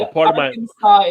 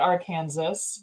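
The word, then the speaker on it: Arkansas: sorry no Illinois Illinois and Aransas is not our Kansas but that's cool whatever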